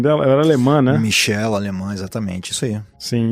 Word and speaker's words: Michel: da Anneliese Michel, é assim que pronuncia o nome dela? Ela era alemã, né? Michel, alemã, exatamente, isso aí.